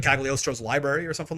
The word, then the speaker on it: Cagliostro: I love how Cagliostro's name in the English-speaking gaming world is pronounced with the G when it's actually silent.